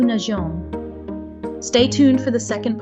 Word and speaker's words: nageons: To remedy this, French adds a little EA to the letter G to remind us to pronounce the hard G as a soft J. In French, we have now nous nageons.